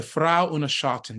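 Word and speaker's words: Frau ohne Schatten: go to the Opera and that was the Frau unashatin did I pronounce that correctly you did and talk about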